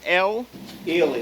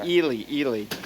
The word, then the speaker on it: Ely: L. Ely, they pronounce it. I'm sorry, Ely.